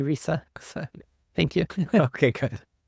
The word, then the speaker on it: RISA: That's how we pronounce it. I've heard many different pronunciations, but we say RISA.